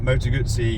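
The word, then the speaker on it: Moto Guzzi: that you don't know you pronounced it really well that's the correct way to pronounce it my Italian is on form um Moto gutsy Moto gutsy okay let's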